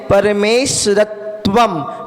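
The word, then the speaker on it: परमेश्वरत्वम्: अनुस्वार लगा हुआ है परमेश्वरत्वम परमेश्वम इसमें त्वा है ना संय संयुक्त अक्षर है तो ता का डबल बार उच्चारण होगा जो संयुक्त अक्षर होता है तो संयोजित अक्षर में डबल बार उच्चारण होता है।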